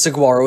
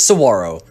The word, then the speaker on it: saguaro: advantage number 34 is saguaro national park many pronounces saguaro as i used to but it is saguaro and there are tons of cacti here the